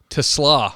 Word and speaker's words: TeSlaa: say your last name to sloth to slaw okay like the like the extra a is a w I don't know how